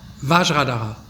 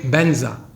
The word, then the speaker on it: vajra: Sanskrit this Mantra is but the Tibetan they cannot pronounce v and they cannot pronounce f because these two sounds doesn't don't exist in tibetan language so vajra became benza so uh Guru my